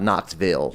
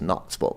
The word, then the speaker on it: Knoxville: It's not Knoxville. It's Knoxville.